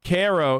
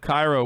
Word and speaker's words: Cairo: that there isn't one cairo illinois is pronounced cairo instead of cairo wait really wait how